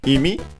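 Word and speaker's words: 意味: Then we have imi, which means meaning. It's a Chinese compound. Is accented on the first syllable, so I remember correctly.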